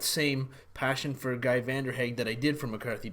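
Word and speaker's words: Vanderhaeghe: tell Hannah corrected me it's van der Hague I believe not vendor hagy he writes kind of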